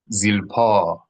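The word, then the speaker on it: זלפה: F, what F, bene, bene, zilpa, zilpa, not zilpa, not zilpa, not zil, oh. Do not pronounce the L like we do at the end of words in English.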